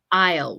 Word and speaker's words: aisle: I usually um the the S of this word is actually silent so it's the pronunciation is aisle what picture shows an